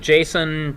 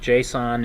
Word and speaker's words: JSON: some people pronounce it Jason some people pronounce with JSON it I can't it's not a person I can't call it Jason all right and here